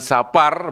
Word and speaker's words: Sapar: Parci bulan Sapar, bukan Safar loh ya, kalau dari Safar malah fasih Arabnya malah kalau disingkat jadi dari jangan diganti pokoknya. Pengucapannya asli Jawa, bulan Sapar ya. Bukan Safar.